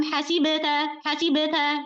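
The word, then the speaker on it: حَسِبْتَ: Nah, biasanya yang terjadi kesalahan mereka banyak orang membacanya itu dengan adanya hamzah sukun setelah qalqalah. Contoh, hasib. am hasibta gitu.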